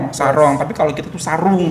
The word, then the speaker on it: sarung: Tapi kalau kita tuh sarung. Tapi Malaysia tuh sarong atau bacanya sarung.